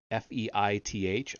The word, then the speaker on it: Feith: The famous Feith memo, F-E-I-T-H, I would pronounce that Feith, presented to the Senate Intelligence